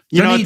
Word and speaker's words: Dunedin: How do you pronounce that? Dunedin.